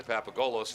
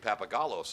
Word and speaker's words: Papagolos: Away by Addison papagolos want to apologize to the papagolos family for pronouncing It papagalos All season father didn't mind the